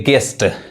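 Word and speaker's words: guest: यानी यू नहीं पढ़ाए यहां देखिए गेस्ट यानी गेस्ट यू नहीं पढ़ा रहा है यू क्या है साइलेंट है यहां देखिए गेस्ट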